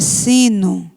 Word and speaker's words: sino: É a palavra sino. Sino, a pronúncia parece U, mas ela termina com a letra O.